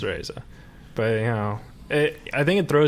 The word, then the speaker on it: Reza: yeah, it's Reza. But, you know, I think it throws people off because it's spelled with an E, you know? And you say it like an A.